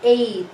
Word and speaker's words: ate: So in English, you read this as ate, the past tense of eat. But in Filipino, we take it by syllable a and te. Ate.